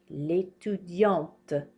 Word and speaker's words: étudiante: L'étudiante. We pronounce this T now. Did you hear how I was not pronouncing it here? L'étudiant. L'étudiante.